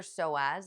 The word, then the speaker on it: psoas: So take care of your soaz. It's spelled P S O A S.